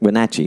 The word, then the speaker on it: Wenatchee: community a couple times in a place called wenatchee did i say it correct wenatchee did i say it right yes yes you